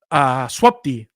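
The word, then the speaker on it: swupd: So I sat down with Tim Pepper, who he had worked on Clear Linux's update tool, swapd. That's how you pronounce that, by the way.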